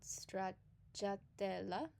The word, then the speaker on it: stracciatella: So for cuatro, for magi, it's pronounced as I just said it, and the ice cream called stracciatella is pronounced as I just said it.